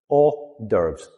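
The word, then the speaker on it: hors d'oeuvres: So it's a lot shorter. Orderves. Two syllables.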